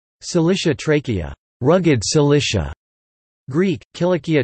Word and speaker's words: Cilicia: The palatalization of C occurring in the West in later Vulgar Latin c. 500 to 700 accounts for its modern pronunciation in English. Cilicia Trachea, rugged Cilicia.